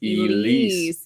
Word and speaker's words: Elise: I mispronounced her first name. She said it's pronounced Elise. LOL. Love you guys. Elise was a mighty fine cow. We always she was a friend names. of mine. Oh, Elise. I think I pronounced it Elsie.